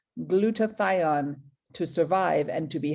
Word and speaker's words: glutathione: people repeat you know think about glue the tie on right glue the tie odd if you want to